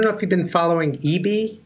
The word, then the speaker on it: ibi: is the name of it hi bi and pronounced EB I've been speaking with Western Digital and they were upset when I called it ibi and they said EB love it love it so okay so so